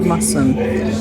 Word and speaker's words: Masham: I keep having to be aware of not to pronounce the H. Masham.